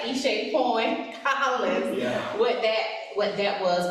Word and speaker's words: Eshé: Not offended, but hey, it's it's Eshé.